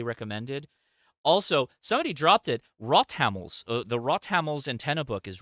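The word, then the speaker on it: Rothammel: Everybody, we in America thinks it's Rothamels, but no, it's Rothamels is the pronunciation, as I'm told.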